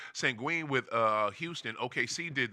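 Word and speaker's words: Şengün: with I don't know we call him sangon but sangui I guess is way you're supposed to no no no sangui is the nickname uh sangen I guess that's the way you supposed to pronounce it sangen with uh Houston OKC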